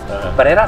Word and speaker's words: PRERA: r e r a prera según se pronuncia fácilmente prera pero había otra que